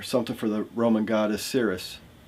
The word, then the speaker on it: Ceres: for the Roman goddess Ceres. I think that's how you pronounce her name. I think C-E-R-E-S, Ceres.